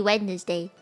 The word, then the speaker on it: Wednesday: it longer to say is it not Wednesday's day it should be Wednesday Wednesday yeah because it's Wednesday Wednesday I don't know where the rest of the word go where did the whole syllable go why is English so